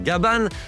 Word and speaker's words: Gaban: D'ailleurs, fun fact, en VO, le personnage principal s'appelle Gaban car c'est comme ça que les Japonais prononcent le prénom Gabin. Ce nom a été choisi en hommage à Jean Gabin qui est surtout connu au Japon pour ses rôles de flic.